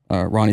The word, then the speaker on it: Rony: I don't know if but I think it is pronounced Ronnie.